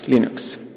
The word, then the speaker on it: Linux: have thank you foreign and I pronounce Linux as Linux